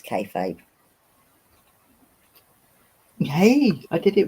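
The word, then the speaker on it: kayfabe: lot of feet in them oh TJ pronounced it right the first time it's kfabe yay I did it right okay never heard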